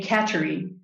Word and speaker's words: Kateri: questa is her surname i think at the time um she pronounced her name catchery but that that just sounds like the home for cats doesn't it so um so saint